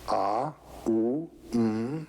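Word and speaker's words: AUM: that and this is called The Four Element syllable what is the fourth element a u m and the silence out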